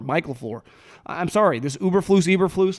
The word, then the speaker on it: Eberflus: But I feel pretty good about making the educated guess that, and a lot of people are like, say his name correctly. It's not Uberflus. It's Eberflus.